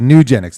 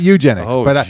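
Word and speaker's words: Nugenix: oh Duke neck there nugenics nugenics oh that's what I said nugenics not Eugenics when I see that commercial I think the same thing I'm like wait wait oh there's an N got it yeah yeah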